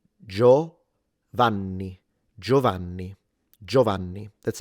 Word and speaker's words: Giovanni: Do remember that the N is double, so you need to pronounce it longer if you want to say it like an Italian.